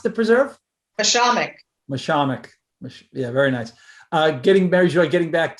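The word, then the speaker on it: Mashomack: How do you pronounce the preserve? Mishamik.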